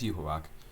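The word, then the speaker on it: Yhwach: I was like oh I am not saying that right so yeah it's you hawak so at least I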